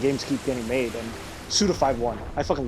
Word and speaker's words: Suda51: why I love suda51 well technically suda51 that's how you're supposed to pronounce it I found out yeah